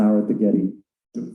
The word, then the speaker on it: Getty: Am I saying it right? Yeah, Getty, not Gary.